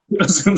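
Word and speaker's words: Züm: Zoom, yeah. Zoom, sorry, will be fully electric?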